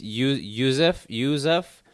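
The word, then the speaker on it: Yusuff: because this guy, I don't know how to pronounce his first name. Sodiq Youssef. It's Youssef. So this guy is a up and comer. Jesus, you and these names. Sadiq Youssef.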